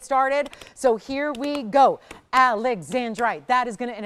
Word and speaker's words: Alexandrite: This is Alexandrite. So Alexandrite is the proper pronunciation.